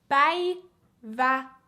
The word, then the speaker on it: Päivätär: Päivätär. The faster you go, of course, the a's become less pronounced.